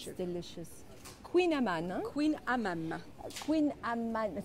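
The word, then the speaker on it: Kouign-amann: So look at the spelling. This is really hard to pronounce. Huh? Say it it's again. It's Breton. Queen Amman. And it's the Breton language, yeah?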